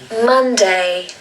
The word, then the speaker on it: Monday: So here we have an O that's actually a U sound. And this happens a lot in English. Some other examples are London, money, love, tough. They are not O sounds, they are U sounds. You want the same sound that's at the start of the word umbrella. For example, that sound, that